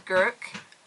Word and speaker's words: Gourock: My accent might not kind of make that pronounced properly. So it's Gourock, and it's a lovely town.